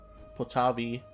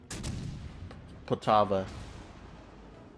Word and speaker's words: Poltava: I have Potavi, or mispronounced that again, oh my goodness. Potava. Not Potavi, Potava.